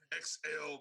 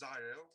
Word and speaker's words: Xael: Everybody says Xael or XL, but it's Xael, like Xael.